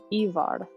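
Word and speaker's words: Eivør: you might be, we are currently listening to Ivar, and that is spelled E-I-V-O with like an Icelandic slash through the O and then R.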